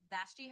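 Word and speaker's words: Vashti: Did I pronounce correct? You've got it now. That's exactly how you say it. Bashy Harrison.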